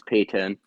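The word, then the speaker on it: Paton: Former high up from 2007 to 2020, George Payton, spelled like Patton, P A T O N, but pretty sure if I remember correctly is pronounced as Payton.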